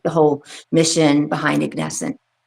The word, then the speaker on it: Ignescent: And I been practicing saying their name right, Ignesscent.